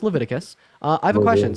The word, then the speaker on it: Leviticus: there's 1822 levius 18 it's pronoun it's it's pronounced Leviticus uh I have a question so you think